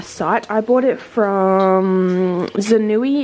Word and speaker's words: Zanui: I bought it from Zanui. It's spelled Z-A-N-U-I.